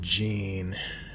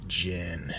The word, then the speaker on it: Jin: total opposite of Jen in the United States they call him Jean but I believe it's pronounced Jin in Japan look at that Samurai